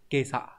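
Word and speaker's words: 今朝: Chữ chiều có âm kun yomi là asa và on yomi là cho, nhưng ghép vào nhau nó không tạo ra quy tắc gì hết, nó đọc là kesa, sáng nay này.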